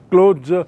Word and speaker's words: clothes: बिना सिले हुए, और दूसरा है क्लोज, उसका उच्चारण भी थोड़ा अलग है, क्लोज, और क्लोज मतलब सिले हुए कपड़े, गारमेंट।